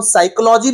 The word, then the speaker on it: psychology: उसको देख लीजिए मनोविज्ञान जिसको हम साइकोलॉजी भी कहते हैं पी साइलेंट होता है यहां पर सीखने की